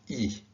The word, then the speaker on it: e: maria means and and it's pronounced e so this is el